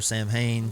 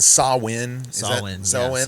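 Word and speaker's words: Samhain: of Sam yeah so uh Sam short for Sam Hayne Sam Howen uh samen there's different ways of of pronouncing it but but altogether it's it's all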